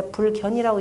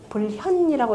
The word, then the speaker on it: 불현: 여차자는 불견이 장하며 보이지 않아도 나타나지 아니해도, 원래 불견하면 보지 않아도, 원래 불견이라고 읽지 않고 뭐라고 읽어야 돼요? 불현이라고 읽어야 되겠죠? 나타나지 아니해 불현이 장하며, 그 보이지 않아도 빛나며, 부동이 변하며, 움직이지 아니하여도 변하며, 무의성이니라.